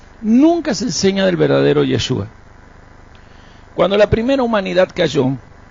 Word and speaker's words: Yeshua: Entonces, cuando nosotros venimos a la palabra, el que habla en hebreo es el mismo Mesías y a su nombre lo pronuncia así, Yeshua.